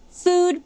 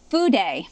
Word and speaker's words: fude: It is not pronounced food pen, as I've heard some people say. It is fude pen.